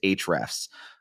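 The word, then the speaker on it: Ahrefs: go into any I'm sorry specifically I use H refs which is spelled a href s comm it's very similar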